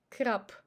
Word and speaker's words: краб: We say краб, краб, not краб. So b becomes p.